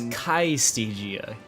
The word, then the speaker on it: Calistigia: C-A-I, that's the L, Y-S-T-E-G-I-A. Again, that's C-A-I-Y-S-T-E-G-I-A. It was Kaistigia.